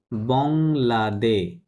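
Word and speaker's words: bangladais: হবে বং, কি হবে বংলাদে, DAS দে, এস সাইলেন্ট, বংলাদে।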